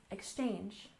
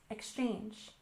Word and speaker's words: exchange: first aable cultural cultural and exchange we stress the second syllable exchange exchange so this is when